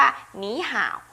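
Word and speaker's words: 你好: หนี ห่า นะ คะ การ เปลี่ยน เสียง ค่ะ เสียง 3 เมื่อ เจอ กับ เสียง 3 นะ คะ จะ เปลี่ยน เป็น เสียง ที่ 2 ใน ตัว แรก และ ตัว หลัง ยัง ออก เสียง 3 เหมือน เดิม นะ คะ เขา ก็ เลย พูด กัน ว่า หนี ห่าว ทั้ง ๆ ที่ จริง ๆ มัน มา จาก คำ ว่า นี่ ห่าว ใช่ ไมั้ย คะ หนี ห่าว แปล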